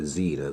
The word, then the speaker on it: Zener: a thing called a Zener diode or you might possibly hear xena that's the American way to pronounce it to turn a DC